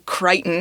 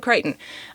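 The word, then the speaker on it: Crichton: a writer named Michael kryon which I don't think I knew how to pronounce his name until like maybe a month or so ago um but that is his name Michael kryon um and it follows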